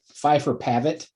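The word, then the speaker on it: Phifer Pavitt: The Pfeiffer Pavitt cast.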